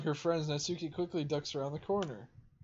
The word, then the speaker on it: Natsuki: only know a few hey that's not sookie that's natsuki let me say it